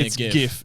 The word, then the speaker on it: GIF: things yeah um so pronouncing it with a G as in girl not g as in George it's so it's definitely a GI it's not a gif